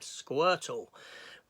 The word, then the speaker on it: Squirtle: Thus, we got this tortoise here that she named Squirtle. Rhymes with turtle.